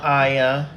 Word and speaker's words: Ayan: So we got Nina, Sara, Chanel, Ayan. Why did I say Chanel Iman? Chanel Ayan, I believe is how you say her name.